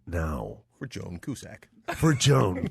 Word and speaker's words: Cusack: For Joan Cusack. Which I believe is the wrong way to say her name. How do you say it? Ian. It's Cusack! Cusack? Cusack? C-U-S-A-Q. Is it Cusack? Cusack. Oh, it's Cusack.